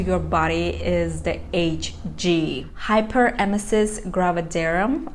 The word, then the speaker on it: hyperemesis gravidarum: Hyperemesis Gravidarum, I believe this is how you pronounce the name.